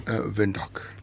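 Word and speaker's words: Windhoek: Vindok. Okay. Yes. The W. These guys have this German heritage. Okay. The W has a has a V V sound to it.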